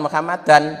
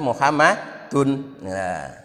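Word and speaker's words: مُحَمَّدٌ: Ya, kalau cuma la ilaha illallah yang benar bukan Muhammadan tapi Muhammadun. Ya, kecuali kalau asyhadu anna, karena ada anna harus Muhammadan.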